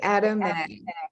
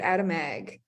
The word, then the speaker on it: Atomag: just say Atomag, like attaboy, but Atomag. Atomag.